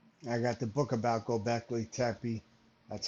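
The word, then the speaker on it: Göbekli: Major I got the book about Gobeci.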